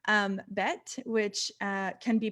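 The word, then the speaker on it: ב: would go right here if there's a dot it's pronounced bet if there's not a dot it's pronounced vet and most often those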